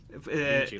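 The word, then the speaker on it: vinte: Vinci, like Leonardo da Vinci. It's written 20. Vinci. But it's pronounced But it's Vinci.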